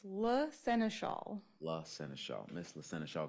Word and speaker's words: La Seneschal: And before I say it, can you please pronounce your name again so I say it correctly? It's La Seneschal.